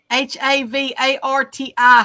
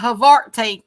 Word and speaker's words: havarti: I had some of Arty teeth aboarding havarti h-a-v-a-r-t-i havarti can you say that now havarti yeah there